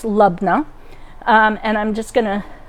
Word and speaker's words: labneh: so we have our lubna and yes it's pronounced lubna um and i'm just gonna put some olive